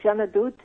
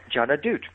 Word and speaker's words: Jeanne D'Août: And so Jeanne Adote, it became. Jeanne Adote, very nice. Thank you for helping me with the pronunciation.